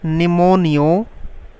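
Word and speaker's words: pneumonia: Pleuro PLEURO निमोनियो की spelling होती है, पी से शुरू होती है, पी साइलेंट होता है, PNEUMONIO, निमोनियो, like LIKE, organism, pleuro निमोनियो like organism.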